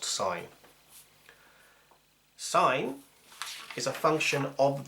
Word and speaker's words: sin: It's S-I-N, and it's still pronounced sine.